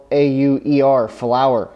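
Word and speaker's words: Filauer: It's F-I-L-A-U-E-R, Flower. So I'm going to choose to pronounce it.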